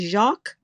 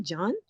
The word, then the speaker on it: Jacques: ding ding dong d but it's fur jakka isn't it jacques that's jack isn't it in french it's not john jim what are you